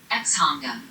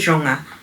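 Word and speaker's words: Xhoga: Ex-Honga. Right, well, it's definitely not Ex-Honga. I can't find a pronunciation guide for that. I'm going to go with Zhonga, but could be wrong.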